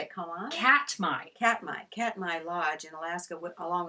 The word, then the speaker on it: Katmai: Katmai.